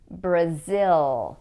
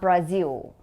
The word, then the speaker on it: Brazil: The way that we pronounce the country in English is Brazil, not Brazil.